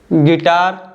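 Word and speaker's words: guitar: बाद यू आता है गिटार guide guest गिल्ट leak और टंग तो आप देख सकते हो जो लेटर यू है इन सभी वर्ड्स में साइलेंट है देखिए जो लेटर यू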